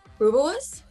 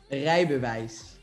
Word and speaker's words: Rijbewijs: Rubus? Rijbewijs. Okay. See, I'm pronouncing it like it should be in English. Okay. Say it again. Rijbewijs.